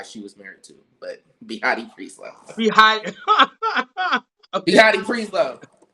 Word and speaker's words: Behati: So it's BEHATI beauty. BEUBEAUTY. All right, Behati, well, this is Behati, like Behati Prieslow, the model. I don't know which white guy she was married to, but Behati Prieslow.